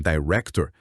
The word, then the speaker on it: director: Esse T é o que chamam de T aspirado em inglês. É comum no começo de sílaba tônica ou de palavra. E o R americano, principalmente depois de vogal, como em director, tem essa qualidade que a gente chama de retroflexa. A língua dobra para trás um pouquinho.